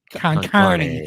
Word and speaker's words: con carne: How do you say that? Con carne. Con carne, yes.